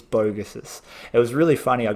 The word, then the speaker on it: Vogus: my last name but bogus is the the phonetic pronunciation from Hungary okay and it starts